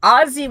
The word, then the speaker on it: Ozzy: So Ozzy wants to make sure that we pronounce their name correctly. It should be Ozzy. Hard Z, he says.